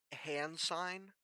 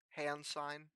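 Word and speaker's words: Hansine: But um right now, yeah, the world you guys are in is called hand sign. It is spelled H A N S I N E. Hand sign.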